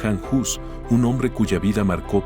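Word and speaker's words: Jan Hus: Hoy conoceremos la historia de Juan Hus, así como se pronuncia en español, aunque en su lengua original, el checo, su nombre es Han Jus, un hombre cuya vida marcó profundamente el rumbo espiritual de Europa.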